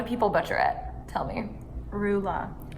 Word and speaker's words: Rula: English how do people butcher it tell me rulla rulla yeah yeah that sucks I thought mine